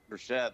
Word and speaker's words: Burchett: Burchett. Am I pronouncing that correctly? Burchett, that's right.